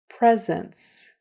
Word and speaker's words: presence: that word scen scen presence presence notice the S is spelled with a C and notice that first s is pronounced like a z so that's kind of